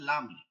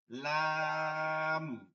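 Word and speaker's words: لام: আসি কাফের পরে হচ্ছে কি কাফের পরে হচ্ছে লাম এটা একদম ইজি বানান করেন একদম সহজ ভাবে বাংলায় চলে আসবে লাম শুধু এতটুক খেয়াল করেন এই যে এইমাত্র একজন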